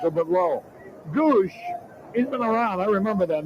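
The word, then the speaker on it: Gwosdz: though gwos DZ is the spelling but it's pronounced Goose well his nickname is eye chart and you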